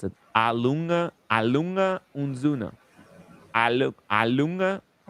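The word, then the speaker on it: A. Lange & Söhne: We're we're according to Fred, we're mispronouncing Lang, but I call it Lang.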